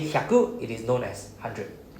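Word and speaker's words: 百: So 100 is pronounced as hyaku.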